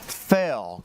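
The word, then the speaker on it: Phail: overpass where artist Cole Fail getting to work on a massive new community moral. Did I pronounce that name right? Uh, P H A I L.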